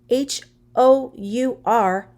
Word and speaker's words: hour: the article and because the word h-o-u-r hour it begins with the consonant sound h but it sounds like a vowel ow it will take me